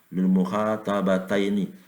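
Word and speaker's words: للمخاطبتين: Kalau yang nomor 8 lil mukhatabaini, lil mukhatabaini. Tapi kalau yang ini membacanya lil mukhatabataini.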